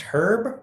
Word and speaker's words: Herb: Is it pronounced herb or herb? It is not a food, so it's herb.